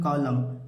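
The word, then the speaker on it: column: सर्दी का मौसम उसी प्रकार इसे क्या पढ़ेंगे कॉलम कॉलम माने क्या होता है स्तंभ होता है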